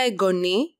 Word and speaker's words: εγγονή: So, we saw the neuter noun for grandchild, and now we see the feminine noun, εγγονή, the accent on the last syllable, and ήτα.